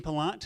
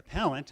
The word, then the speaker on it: Pallant: time too we have dean pelant from the sorry pallent i'm saying it wrong already he already told me